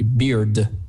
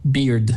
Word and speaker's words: beard: То есть тут как пиво произносится, да, в какой-то степени типа beer, но только мы добавляем наконец букву D. Beard получается. То есть Я осталась без ошибок. D прямо произносится, да? Еще раз. То есть D прямо произносится. Beard, да, вот это важно.